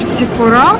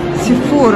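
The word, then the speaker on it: Sephora: Кстати, в России почему-то произносят с ударением Сифора в конце. В Америке все произносят название Сифора.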